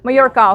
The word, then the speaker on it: Mayora: There is a good There is a good company called Majora or Mayora. I'm not sure how to say it. Mayora. Okay. So, they make a really good uh synthetic or simulated pearl.